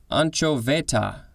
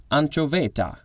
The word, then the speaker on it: anchoveta: southern california to peru anchovaita okay that sounded italian it's not italian it's spanish anchova nope